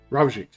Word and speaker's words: Ravjik: Ravjik. Is Ravjik okay? Yeah. I was gonna say I didn't know if the J was a J sound because sometimes they're not.